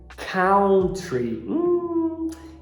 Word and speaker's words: country: para te dar realmente as letras ou u geralmente você fala ao não é tipo a palavra fora que é alto alto só que na palavra país não é Country você tá com problema de pronúncia se você falou Country mas a gente resolve